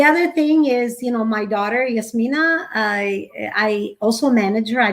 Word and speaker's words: Yasmeena: The other thing is, my daughter Yasmina.